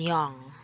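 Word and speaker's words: 영: will start with zero normally it is known as young but if you use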